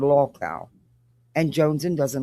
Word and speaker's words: lolcow: But this is Jonesin and apparently she's upset because nonsense did a live and is not pronouncing local right. She's saying low cow instead of law cow and Jonesen doesn't like it and it's really bothering her.